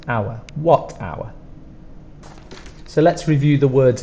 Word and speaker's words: watt hour: spelled many times before don't forget the H is spelled but we don't pronounce it our two sounds hour what hour so let's review the